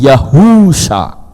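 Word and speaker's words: יהושע: wa Sin Ayin membacanya Bukan yahua tapi yahusha kenapa karena ada huruf wau di tengah-tengahnya Yod he dibaca yah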